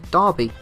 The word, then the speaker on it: Derby: even by characters in the game, they actually pronounce his name as Darby, D-A-R-B-Y, rather than, the spelling of the pronunciation of Derby.